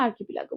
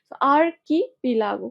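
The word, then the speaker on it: archipelago: সময় অনার সাবস্টিটিউশনে আসে আর কি পিলাগো কোনরকম সমস্যা নেই জাস্ট একটু ভেঙ্গে উচ্চারণ করবা কিরকম প্রথমে আর আর কি পে লাগো আর কি পে লাগো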